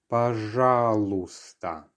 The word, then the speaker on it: пожалуйста: Once again, пожалуйста. So we have another silent letter here. The y towards the end is not heard. So it's пожалуйста.